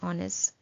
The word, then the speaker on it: honest: The correct answer is she is an honest girl because H is silent in honest.